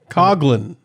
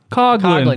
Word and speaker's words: Coughlin: Coughlin. Coughlin, yes. It's not Coughlin. Not Coughlin. It is mispronounced.